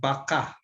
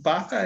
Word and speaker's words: baka: they all mean maybe be careful with the word baka the accent is in the second syllable because why if you have the accent the first syllable what is it yeah